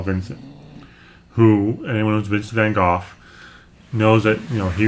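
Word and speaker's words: Van Gogh: back and saw vincent who anyone was visiting golf knows that you know he was a very troubled man that's how it's pronounced it's good in america we say vince van gaal doesn't mean it wasn't pronounced the point of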